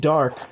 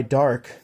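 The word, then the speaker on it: Dharc: could probably just buy dark, because that's all you need is 2 dark, and that's it. 2 dark Link monsters. His name is Dark. It's spelled D-H-A-R-C. For those who want to look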